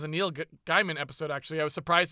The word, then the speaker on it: Gaiman: I think it's pronounced sorry, Gaiman. Gaiman.